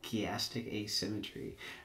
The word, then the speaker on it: chiastic asymmetry: go ahead would you mind explaining how to pronounce what it is you're going to be talking about elastic asymmetry chiastic asymmetry okay and this is a way a method